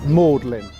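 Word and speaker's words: Magdalene: side is mlin college it's spelled like magdalin the girl's name but we say mlin coming up directly in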